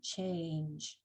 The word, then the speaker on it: change: The silent E is there primarily let the A say its name, change. But it also lets the G say J, as we learned previously.